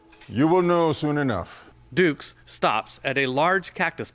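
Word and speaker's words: Dux: a warrior a knight have you ever heard the expression put up your dukes i was wondering is that a nickname i am a ranger my name is spelled d-u-x if it comes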